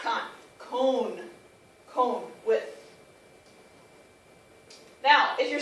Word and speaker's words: con: el el ice cream cone is with cone with and notice how I'm pronouncing it I'm pronouncing it like cone like an ice cream cone okay it's not con